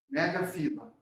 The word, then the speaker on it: megafila: microfila, por favor, gente, a pronúncia correta é microfila, megafila, tá bom? Eu já vi livros acentuando essas palavras. Não, a forma correta é sem um acento, tá?